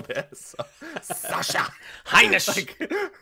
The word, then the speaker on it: Heinisch: I think you always have to like put the emphasis and try to be German when you say. Is that right? Heinisch? Am I saying it right? That's correct. Yeah. Now we were watching. Go ahead. You were saying emphasis. You put emphasis on every single syllable there.